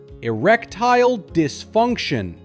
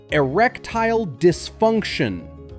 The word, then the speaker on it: erectile dysfunction: The correct way is erectile dysfunction. First say erectile. Smooth like e plus wreck plus tile. Then say dysfunction. Starting with d, add funk and finish with shun. Together erectile dysfunction.